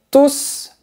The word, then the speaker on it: tous: Tous les Français adorent les croissants. Je fais du sport tous les jours. Donc, généralement, on ne prononce pas le S final.